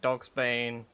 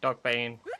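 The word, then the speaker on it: dogbane: And dogs bane. Sorry, dog bane. Why is it not dogs bane? Why is there no S? The fact there's no S really upsets me cuz now I always mispronounce it.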